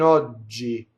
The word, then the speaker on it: oggi: So ciò che in oggi. Oggi, open O. And it's a double G that's like a DG, right?